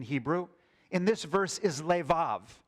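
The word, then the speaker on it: לֵבָב: In this verse is leav. There's an extra vet in the word.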